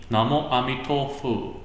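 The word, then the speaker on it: 南无阿弥陀佛: It's in this meaning, Namo Amitofu. So this is a pronunciation in Chinese character, Chinese language of Namo Amida Butsu. Yeah, same character, but in Chinese language, this will be Namo Amitofu.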